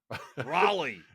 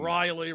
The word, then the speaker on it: Raleigh: Raleigh. It depends on whose mouth it's coming out of is how it's pronounced. Yeah. But we got Riley Beckett. Um, Riley. Raleigh. Raley.